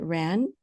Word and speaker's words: RAAN: Is it just, how do you pronounce it? Is it RAN?